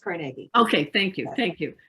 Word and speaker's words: Carnegie: carnegie pennsylvania or nagi oh carnegie yes everybody pronounces it carnegie i don't the the carnegie family pronounces it carnegie i used to work i used to work